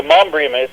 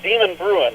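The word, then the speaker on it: Demonbreun: I seen the street there, and I'm like, okay, how do you pronounce this? I'm glad you cleared that up for me. Yeah, it's the Mombrium. It's not Demon Bruin.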